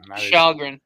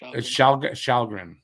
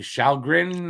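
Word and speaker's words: Källgren: calgarian i don't have the stats for calgary sheldgren it's pronounced shalgren you'll shall grin and barrett through the whole time montreal's beating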